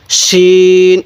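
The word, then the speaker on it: شين: হ্যাঁ বলুন সিন না এটা সিন না এটা হলো কি এটা কিভাবে পড়বো শিন এটা আওয়াজটা মোটা করব শিন এরপরে এই হরফটির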